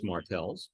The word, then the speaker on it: Markels: One, my name is Markels. Oh, Markels. Shame, shame, shame. And it's TAAL is the correct pronunciation of it.